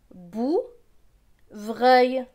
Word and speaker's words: bouvreuil: VR. VR c'est vre. Avec EUIL. EUIL c'est œil. Vre et œil, vreuil. Donc ce mot va se lire bou, vreuil, bouvreuil. Plus loin.